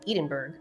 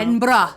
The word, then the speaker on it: Edinburgh: Buck Roxton claimed Isabella and Mary Jane had gone to visit Isabella's sister in Edenberg on September 15th. No, no, no. Edinburgh typing. I already told her it's pronounced Edinburgh.